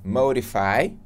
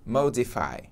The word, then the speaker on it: modify: E você pode pronunciar modify ou modify. Tanto faz aí, vai depender do tipo de inglês que você estiver falando.